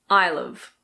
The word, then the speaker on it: I'll've: And now I will have. This becomes I'll've. I'll've.